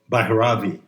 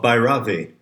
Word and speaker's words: Bhairavi: Let's return to the current shift of Bhairavi. I believe the correct pronunciation puts the accent on the first syllable. So what are the themes? What are the lessons? What are the moods of Bhairavi?